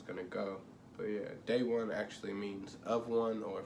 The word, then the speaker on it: De'One: to spell it because that is a hispanic you know that's a spanish way of spelling or saying day that's that's how it's